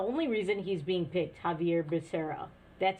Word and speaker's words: Xavier Becerra: The only reason he's being picked, Javier Becerra. That's how you pronounce it. And if you were in Spain, it might be Xavier Becerra.